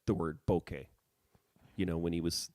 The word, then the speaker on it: bokeh: Japanese it's like a Japanese camera journalist Boke I think it's Boke yeah it's the proper way of pronouncing it all right uh